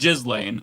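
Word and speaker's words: Ghislaine: I I'm more mature, so I'm going to pronounce her name the way it is. It's just Jiz Lane.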